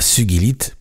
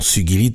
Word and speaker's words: sugilite: Cela vient justement de ce nom de sogi qui se prononce avec un gu dur comme dans guide ce que l'usage courant tend souvent à oublier puisque beaucoup de gens disent sugilite.